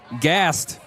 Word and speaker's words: Gast: led by number two Gast the senior for the Tigers. Can we just say his name is No, it's not Gasp. Oh, Gast Gast, I believe a uh child of the head coach for Alexandria.